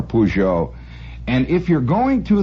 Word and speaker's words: Peugeot: Peugeot an excellent car I'm not going to try to pronounce it there's 18 different ways that Frenchmen pronounce it suffice it to say you'll get by if you just go in on holler pujo and if you're going